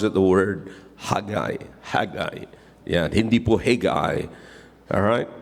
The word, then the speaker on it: Haggai: So, you'll pronounce it as like I.